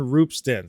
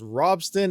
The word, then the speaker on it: Ropsten: successful merge test on Ropsten. So they also let us know that it's not pronounced Ropsten, it is Ropsten due to some Swedish type of backgrounds.